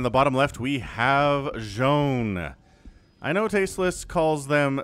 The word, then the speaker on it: Zoun: know tasteless calls them zoun but i have it on good authority it is joan so if you have more information than i do let me know in the comments and i'll correct my pronunciation but i'm going to call him jean okay okay so hmm